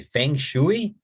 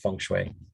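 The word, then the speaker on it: feng shui: fun I know English people want to say fangu right but it's pronounced funu the literal meaning is wind and water which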